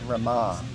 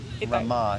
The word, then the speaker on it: Rama: Rama, it's another name for Lakshmi. Yeah, Rama. Rama. R-A-M-A, but the last A is a long A.